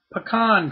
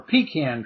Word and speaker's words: pecan: front yard PL planting pean trees or pecan trees depending on how you want to pronounce it first time I ever